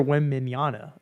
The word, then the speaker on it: Wembanyama: I want some Victor, how do you pronounce it? Wembanyama at the end of it. Say that one more time. Victor Wembanyama.